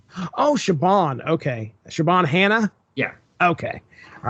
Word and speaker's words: Siobhan: So it's Siobhan. Oh, Siobhan. Okay. Siobhan Hannah?